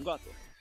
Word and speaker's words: Gotter: Como é que eu pronuncio esse nome? Gotter? Tá bom, gota.